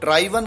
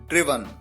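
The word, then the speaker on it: driven: कई बार स्टूडेंट्स इसकी third form को ड्राइवन कहते हैं, ये गलत है, आप ध्यान रखिए, इसका करेक्ट प्रोनाउंसिएशन है ड्रिवन।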